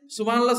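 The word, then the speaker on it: سبحان الله: না আবার আপনি যে সুবহানাল্লাহ সুবহানাল্লাহ বলতেছেন এটা না সুবহানাল্লাহ শেষে হা আছে ছোট এই হাটা উচ্চারণ করতে হবে সুবহানাল্লাহ সুবহানাল্লাহ বললে আল্লাহ পর্যন্ত হাটা তো হইলো না আল্লাহ কিন্তু না আল্লাহ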